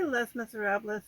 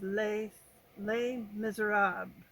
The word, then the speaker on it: Les Misérables: I say Les Miserables because that's how you would pronounce it if you were speaking Spanish.